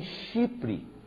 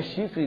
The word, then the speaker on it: Chipre: Ô, irmão, não é chifre não, viu? Chipre. Que a gente não pronuncia muito bem, o irmão chegou lá, o irmão falou que tem um lugar chamado Chifre. Não, Chipre, com P.